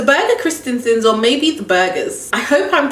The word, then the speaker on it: Birger: Birger Christensen. So that's how you pronounce it, guys.